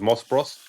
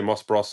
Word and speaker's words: Moss Bros: want to call it is that how you pronounce it uh moss Bros yeah people say moss Bros I say Moss Bross I it depends where you from doesn't it really yeah